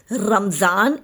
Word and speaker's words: Ramzan: Ramadan is the Arabic pronunciation and spelling, while Ramzan is the common pronunciation in the Indian subcontinent, Persia and Turkey.